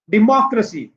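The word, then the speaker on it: democracy: डेमोक्रेसी, सी क्र मो जी, एक दो और ये तीन, पीछे से तीसरा।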